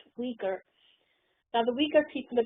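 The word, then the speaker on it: Uyghur: concentration camps in East Turkestan I know to pronounce it Yuri girl whatever because it begins with you it's actually pronounced Rieger now the weaker people are being sent at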